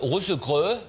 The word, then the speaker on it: Russell Crowe: Die korrekte Aussprache. Russe-Krö. Vom Sprachinstitut Madame Nathalie. Russell Crowe spielt gerade seinen, wie heißt dieser Film von ihm?